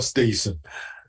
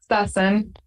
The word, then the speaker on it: Stassen: Is it Stassen or Stason? Stassen.